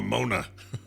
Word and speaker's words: mana: the pronunciation of mana it's actually pronounced like Tony Danza would pronounce it on who's the bus mogul motor that's how it's pronounced so I need more Moana alright you know it